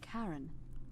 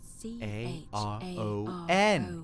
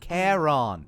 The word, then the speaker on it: Charon: It's just as you described it, only your pronunciation is a little off. The name you heard wasn't Karen. It was C-H-A-R-O-N. Charon. As in Charon, the ferry Uh-huh.